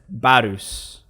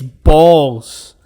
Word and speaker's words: Balse: So in the Disney dub they pronounce it Barus. They sort of really accentuate the U in it, right? To actually write it down canonically, it's BALSE, right? And yes, it's balls, because when things get